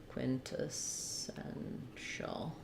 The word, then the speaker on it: quintessential: Um, quintessential Um, so that would sound like quin ta sen shul. Um, with the stress on the sen syllable, the IPA being quin ta sen shul.